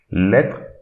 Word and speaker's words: lettre: So here we should not read this E, but instead we should read the TR. So lettre, lettre.